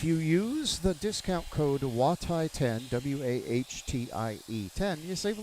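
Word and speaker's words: Juatai: WAHTIE, W-A-H-T-I-E, by the way, is the phonetic spelling of my last name, which is actually J-U-A-T-A-I. And everybody who reads it can't say it, so I spell it phonetically for my wood turning business.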